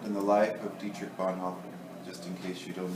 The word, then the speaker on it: Bonhoeffer: I pronounce his name like a person from the southern United States. Bonhoeffer. It's Bonhoeffer.